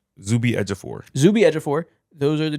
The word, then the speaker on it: Ejiofor: Zuby Ejiofor.